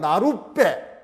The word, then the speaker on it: 나룻배: 그러면 실제로 발음이 되면 나룻 뭐 하는 거야? 빼 이렇게 되는 거죠.